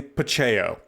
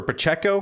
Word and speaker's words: Pacheco: pretty hard at me saying pacheo over and over again I just clearly didn't read very well because there is a c at towards the end of the the name so he corrected me it's Pacheco or Pacheco Pacheco I think is more of How It's pronounced so got that one